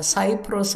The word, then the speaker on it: 키프로스: 것 같습니다 취중 외에 키프로스 라는 솜이 있습니다 발음에 따라 사이프러스 라고도 하는데요 이 키프로스 라는 아